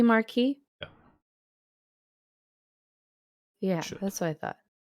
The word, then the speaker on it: marquis: it in the book it's marquis which is wrong yeah shouldn't it be marquee yeah that's what i